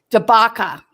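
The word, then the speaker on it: Dabaca: of my report cards debaca rhyme with chewbacca d a a d-a-b-a-c-a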